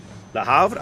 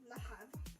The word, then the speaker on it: Le Havre: That silent H always screws me in French. Yeah, like, you're going from an E sound to an A sound. My American mouth does not want to make that transition.